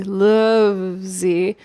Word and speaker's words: Luvze: Lovesy.